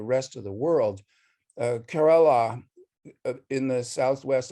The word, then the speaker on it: Kerala: of the world uh kerala in the southwest i don't even know how to pronounce it kerala i always said you had it right the first time yeah yeah this is